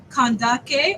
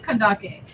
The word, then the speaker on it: Kandake: to clarify to me is it cond or is it or kak kandake which one okay so it is kandake so I'm just let everybody know I said it right the whole time it's K